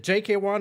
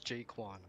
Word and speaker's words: Jaquan: Is it JK1 or is it Jaquan? It is Jaquan.